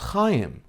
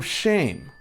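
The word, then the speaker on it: Chaim: many of the crew could not pronounce hayim they kept calling him shame and so he told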